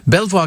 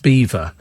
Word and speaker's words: Belvoir: so much easier uh Belvoir Castle is pronounced Beaver oh not in my